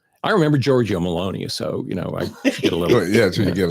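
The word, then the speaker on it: Giorgia Meloni: an easy one either Georgia Maloney yeah yeah so rhymes with baloney so that's my that's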